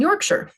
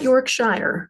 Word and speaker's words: Yorkshire: sausage also a No usually it's pronounced sure on the end um or regionally it